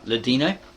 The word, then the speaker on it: Ladino: Ladino, not Latino, it's got here Ladino, Arabic, Portuguese, and modern Greek.